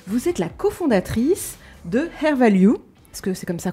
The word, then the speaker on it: Hair Value: Vous êtes la condatrice de Hair Value parce que c'est comme ça qu'on prononce.